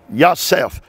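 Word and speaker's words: יוסף: It is spelled Yosef. Yosef.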